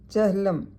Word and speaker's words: چہلم: مکسور ہے، رے ساکن ہے۔ جہنم، جیم اور ہے پر زبر، نون مشدد مفتوح ہے۔ چہلم، لام پر پیش ہے۔ یہ جو الفاظ دیے